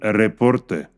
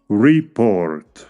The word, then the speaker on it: report: la pronunciación por ejemplo la palabra report se puede pronunciar con el estrés en la primera sílaba y sí significa un reporte report pero si colocamos el estrés en la segunda sílaba lo entendemos como el verbo reportar report por lo tanto es